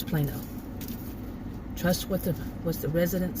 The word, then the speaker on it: Plano: It's spelled like Plano, but it's Plano.